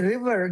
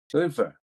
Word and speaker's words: river: But the word river, that's important. Can you pronounce river? Liver. River. Liver. No, no, no, no, no. Again, it's river versus liver.